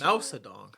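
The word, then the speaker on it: Mao Zedong: I need to double check my Bor facts madong that's how it's pronounced ma ma zong yes but I just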